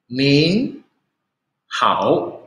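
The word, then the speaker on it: 您好: Nin hao. Ya, jadi belakangnya pin-innya ada tambah N. Jadi kalian harus perhatikan ya. Bacanya nin hao.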